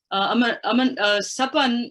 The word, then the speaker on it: SAPAN: SAPAN, and you did pronounce it quite correctly, SAPAN is the South Asia Peace Action Network, is, as its name implies, it's a network.